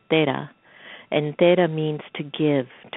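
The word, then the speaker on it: तेरह: And in Indian culture, in Hindi, 13 is pronounced as Tera.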